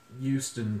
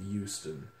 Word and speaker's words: Houston: French the the H we keep it silent on words like human or the city of Houston whereas they sort of